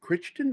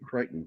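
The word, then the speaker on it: Crichton: And so I always thought, is it Kristen or Kryton? But it's neither. He pronounced it cretton, which is so weird. It's like, forget the the ch, it doesn't exist.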